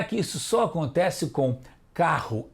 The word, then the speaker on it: carro: Carro e caro. O R de piorra, morro e carro é mais forte.